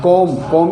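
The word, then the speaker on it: comb: तो B silent रहेगा एम के बाद तथा टी से पहले अगर बी आता है तो 20 साइलेंट रहेगा जैसे सी ओ एम बी कॉम यानी गंगा ऐसे टी ओ एम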